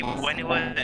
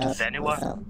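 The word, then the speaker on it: Whenua: Did you know that in actual Maori, Wenua is pronounced Venua? Oh. Yeah, a lot of cultures pronounce W's as V's.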